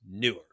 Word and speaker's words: Neewer: The company's name is spelled Neewer, which would be Newer. That's not how they pronounce it. It's Newer. I'm like, that's not Newer, dude. It's just not. That's not how it's pronounced.